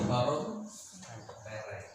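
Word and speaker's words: corrumpere: Ternyata kalau bahasa Latin kita harus mengikuti per atau per huruf. Jadi corrupere.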